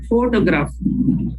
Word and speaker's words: photograph: they will have the stress pattern photograph we stress there the four first celebrity we say photograph